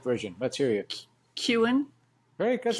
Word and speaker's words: Keown: Kuhn? Very good. That's not bad. That's close. Kuhn. Imagine that it rhymes with moan and groan and bone and stone. And stick a K on the front. Kuhn.